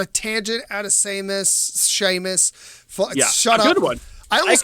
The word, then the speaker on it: Seamus: yeah the phone i people call me sheamus that's how it's pronounced i go by true